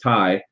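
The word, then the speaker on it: taille: or the land tax the tie and I know that looks like Tales or something like that but it's pronounced Tai um and they only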